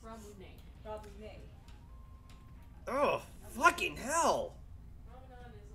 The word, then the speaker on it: Ramune: I call it ramen. Is that how it's pronounced? Ramune.